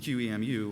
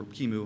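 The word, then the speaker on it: QEMU: He basically used QMU or Kimu, however you want to pronounce it.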